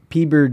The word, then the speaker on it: Peeber: And this character is named Peeber Dinklage, and it's spelled PBR, like Pabst Blue Ribbon.